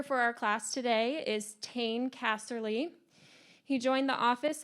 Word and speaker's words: Tane: bit of unusual name so it's uh it's pronounced t-a-n-e so it's uh tane casserly um my